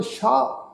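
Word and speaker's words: ਸ਼ਾਹ: इसका उच्चारण करांगे शाह।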